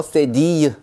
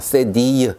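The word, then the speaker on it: cédille: 이렇게 발음하시면 되겠습니다. 네, 이번에 배울 알파벳은요, 세디유 라고 하는 녀석입니다. 세디유.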